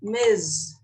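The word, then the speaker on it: Ms: is nowadays all right and the pronunciation is Miz is and this can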